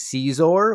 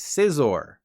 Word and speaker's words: Scizor: evolved form of Scyther the most common mispronunciation is caesor while the least common is scissor but if you've played Smash Bros not only are you an intellectual but you also know it's Scizor give this video a like